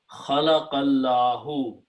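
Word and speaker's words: خلق الله: So you have to pronounce khalaqallahu.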